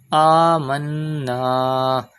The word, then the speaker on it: آمنا: Amanna. Do Gunna in Noon Mushaddad because Noon Mushaddad and Mim Mushaddad are always pronounced with Gunna. Gunna means taking the sound into the nose.